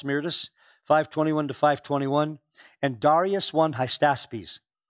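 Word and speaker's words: Hystaspes: 521-521 and Darius won heistaspies non-hypsies like I keep mispronouncing as high status peace 521-486.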